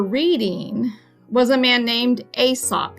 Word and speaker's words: Aesop: was a man named asop you just pronounced that like a and sop asop was a greek